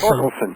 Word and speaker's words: Thorkelson: Well, actually, the H is silent. It's Olson? No. Oh, it's Torkelson. Torkelson, yes.